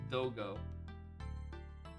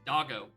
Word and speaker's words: Dogo: I know it's pronounced Dogo. My lizard brain is forcing me to say it as Doggo.